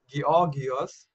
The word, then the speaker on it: Georgios: Yeah, Steve says the world needs more youth like Georgios. Yes, sir. By the way, my name, that's how it is in German, Georgios.